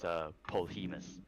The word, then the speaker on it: Polhemus: Yeah, I mean, first of all, I'm gonna correct you on my last name, and don't feel bad, because everybody mispronounces it. It's Polhemus. Polhemus, alright.